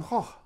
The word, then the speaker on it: Gogh: And van Gogh, van Gogh.